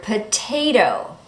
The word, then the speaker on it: potato: In the first T, we say the T clearly. Why? Because the syllable that comes after the T is stressed. Potay, and then the next syllable is not stressed. Potato. Notice that the second T changes to that fast D.